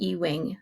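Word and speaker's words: Ewing: this guy Ben um I think it's pronounced e-wing that's what it looks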